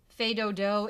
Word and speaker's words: Fais Do-Do: Okay, we have a brand new song called Fais Do-Do, and if you look in your book, you'll find it's the very first piece in the book. Fais Do-Do is without the S being pronounced.